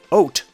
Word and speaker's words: Haute: Haute. Yep. That's how that word is pronounced.